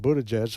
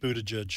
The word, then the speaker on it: Buttigieg: And nobody's talking about Buttigieg, except Buttigieg is talking about himself. Who? Pete Buttigieg. Pete Buttigieg. Who? You just want us to keep saying. I just wanted to hear you say Buttigieg.